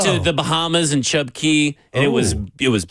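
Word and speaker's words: Cay: the Bahamas and chub key and it was it was beautiful chub chub key you know what they do down there everything is it's spelled k c a y but they call it key and it it's really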